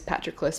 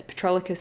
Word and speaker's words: Patroclus: troy and and and his name is patroclus but i go ahead and pronounce it as petrolicus this whole way through so i am sorry